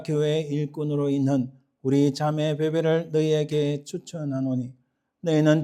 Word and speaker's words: 뵈뵈: 여러분 베베라는 것은 영어로 피비 이렇게 발음하는데 그래서 우리 지난번에도 했던 루디아, 영어로 리디아죠. 리디아나 베베, 피비는 미국에서도 유럽에서도 여자 이름에 많이 쓰이기도 합니다. 그러나 이 사실 정확한 이 그릭의 발음은 아닙니다.